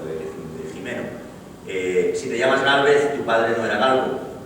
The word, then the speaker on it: Gálvez: un español de España, porque al pronunciar su nombre ya vemos que es Bernardo con la R de España y con el Gálvez de la Z de España.